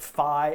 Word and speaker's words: phi: for the chat - telling me that it is pronounced fie and not fee although this is actually